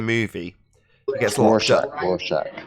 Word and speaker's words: Rorschach: Rorschach.